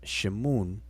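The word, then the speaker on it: Shmoun: in their honor this name which was from pronounced shimoon in coptic has survived in the modern arabic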